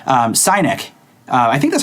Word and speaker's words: Synek: And actually, he suggested that we take a look at this product called Synek. I think that's how you pronounce it. Synek? S-Y-N-E-K. I want to say Synek because Cynic just sounds bad.